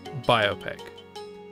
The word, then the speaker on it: biopic: It's pronounced biopic.